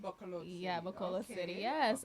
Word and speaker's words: Bacolod City: How do you pronounce that? Bacolod City. Bacolod City.